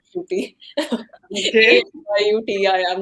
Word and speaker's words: Shruthi: How can they mispronounce Shruti? It is so simple. There are no syllables. Surprised. You'd be surprised. You'd be surprised. Really? Sorry to interrupt that, but I have to know how has it been mispronounced? So the first time when I came to the US, someone called me shitty, and oh my God!